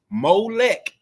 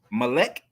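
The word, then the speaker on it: melek: at 7 57 p.m he posted mo lek spelled m-o-l-e-k translate meaning king on trial well according to who language and what because malek m-e-l-e-k is how we spell it in ibree so this mole lack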